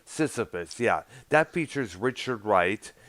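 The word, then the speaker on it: Sysyphus: like uh parts one two or three uh syphilis i think if that's what it's pronounced sisyphus yeah that features richard wright you know the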